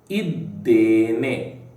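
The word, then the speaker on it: ಇದ್ದೇನೆ: Second word is Iddene. Iddene. Now, iddene can also be spelled like this, okay, using I. I have chosen to spell it using E. The pronunciation is iddene, okay.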